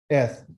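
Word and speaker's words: את: So the aleph is silent. So we're going to pronunciate these 3 dots. Eh. And then this is the TH sound, which is eth.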